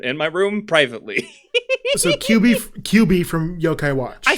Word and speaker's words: Kyubi: expected look up kyubi QB I think is how it's pronounced I don't know for sure k-y-u-b-i so this when you